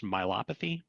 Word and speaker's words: myopathy: And uh tell me how how am I supposed to pronounce this? Myopathy.